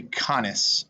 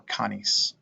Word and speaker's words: canis: All right, in this one, you remember that all the C's are hard, so it's not S, it's a K sound. Pause now and resume when you're ready. Okay, this would be canis or canis.